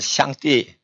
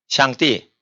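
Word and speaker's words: 上帝: 하나님을 한문으로 상제 하거든요 중국말로는 샹띠 샹띠 이렇게 된단 말이에요 신이다 이러면 현 이렇게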